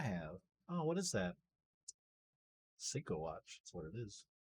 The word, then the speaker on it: Seiko: Seiko watch. That's what it is. The fact that he mispronounces it is even more sad. Psycho? Seiko. Seiko. It is Japanese.